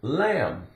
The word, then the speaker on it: lamb: tree a rope climb here's the word lamb L AM B la am em em em like I am but no contraction just AM la la from the L lamb to be is silent what is a